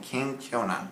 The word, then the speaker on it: kenkyona: That's the Japanese word for humble. So I pronounce it the best I can. Kenkyona.